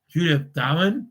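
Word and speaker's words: Judith Durham: stuff because we lost Archie Roach, Julie Darwin, Judith Darwin, that's how you say it, and Olivia Newton-John.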